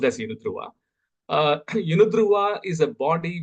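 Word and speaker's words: UNIDROIT: representative of Yuda for India unid drit it's pronounced as Yuda uh unoda is a body which is there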